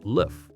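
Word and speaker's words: l'œuf: The French word for egg is lof, which sounds like love when pronounced by English speakers.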